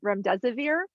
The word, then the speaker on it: remdesivir: But if I'm going to say it right, it's remdesivir.